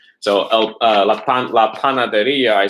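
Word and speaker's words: panadería: RIA with an accent on the I. The first one that we did today was an example of that. La panaderia, right?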